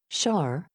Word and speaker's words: Sar: underground normally we hear the term SAR pronounced char when people are talking